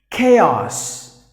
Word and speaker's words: chaos: Next, chaos. Chaos. So here, just imagine that the letter H is silent. So chaos, like this. K-A for this A, and then this O-S, os. Chaos.